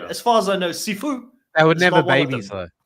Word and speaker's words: Sifu: I keep hearing seafood. Actually, it's totally Chris. Sifu. Okay, I'll overpronounce the U. Sifu.